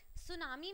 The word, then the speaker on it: tsunami: अब इसमें जो सू होता है ना, इसमें टी इज साइलेंट. सुनामी में जो सू हमने